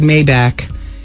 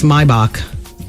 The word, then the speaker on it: Maybach: Wendy, I've heard you a couple of times on the radio pronounce the word Maybback. It's actually pronounced Maybach, not Maybback.